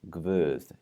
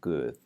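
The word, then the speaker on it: guð: birth which means god is pronounced with a V insertion there's no real logic behind this it's old it's always pronounced birthed instead of good so just watch out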